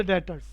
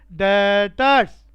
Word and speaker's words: debtors: अगला शब्द डेटर्स, बिल्कुल क्रेडिटर्स का रिवर्स। स्पेलिंग में हर बार बोलता हूं, DEBTORS, स्पेलिंग डेप्टर्स है बच्चों, लेकिन बी साइलेंट है। कैसे पढ़ते हैं? डेटर्स।